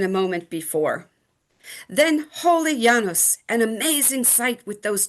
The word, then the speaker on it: Janus: On the first day of the new year, on birthdays and beginning any endeavor, Janus, more properly pronounced Yanos, received an offering, usually a simple cake called libum, and wine, as in the following from Kato's work, de agricultura.